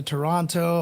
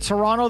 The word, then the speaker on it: Toronto: And when you visit Toronto, though, you got to make sure not to pronounce the second T.